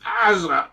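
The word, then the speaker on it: עזה: We call it Gaza. It's named Gaza in England. In English, Gaza in Hebrew is pronounced Azza. Azza. This words has a guttural sound. Sometimes can be pronounced with a G.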